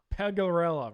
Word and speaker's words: Pegorella: Pegorella, that's right. I thought I had that pronunciation down pretty well.